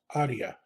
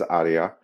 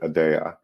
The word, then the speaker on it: Aadya: it's uh it is Adia that's how it's pronounced in Latin or the Middle East but we pronounce it adaa so so it kind